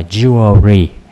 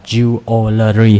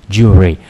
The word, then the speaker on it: jewelry: Oh, chữ này mình đọc là jewelry, có hai âm thôi chứ không phải là jewelry ha, jewelry.